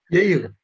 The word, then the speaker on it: Jair: Did I pronounce that right? Yair. Perfect, Jair. Scandinavian J.